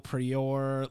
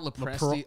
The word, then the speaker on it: LoPriore: No one gets it. LoPriore, LoPriore. I got LoPresti. I got LoPresti once. Yeah, LoPriore. Yeah, they always fucking pronounce that shit wrong. One of my gym teachers called me like Lopez.